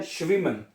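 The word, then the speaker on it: schwimmen: शमन हम हैं।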